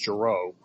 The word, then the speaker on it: Giroux: By the way, it's pronounced Giroux.